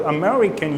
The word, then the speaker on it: American: let's take this world Amer I see in American right there are four syllables in that world right Mary we and Maori can sew which syllable is being stressed this a Mary can write a Maori the second syllable so when you are